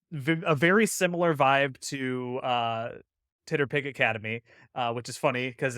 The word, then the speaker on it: TTRPG: Titterpig for TTRPG. Yeah, it's just phonetically Titterpig, TTRPG.